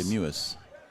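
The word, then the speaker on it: Mewes: That's what they told us to pronounce it as M-E-W-E-S, and they say Mewis is what we were told.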